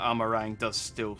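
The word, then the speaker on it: Amh Araeng: I am glad that Amarang does actually sound like a meringue, though.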